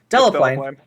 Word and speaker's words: Delaplane: Is it I don't know if I've ever heard his name pronounced. Delaplane.